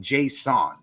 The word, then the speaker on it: Jasson: He pronounces his name Jasson, right? So respectfully, if he pronounces his name Jasson, I'm going to pronounce it that way.